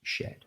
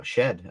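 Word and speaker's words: Shead: lineups uh oh the Raptors guy no uh Sheed I think his name is no I'm not playing him but it is spelled she but pronounced shed there you go shed uh Houston Legend that's right yeah Houston C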